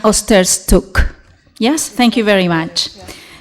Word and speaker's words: Osterczuk: Again? It's Osterczuk. Osterczuk.